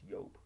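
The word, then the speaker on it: Joop: Well, it's spelled Jupe. You know, the fragrance heads know it's pronounced Yope. You know, it's French.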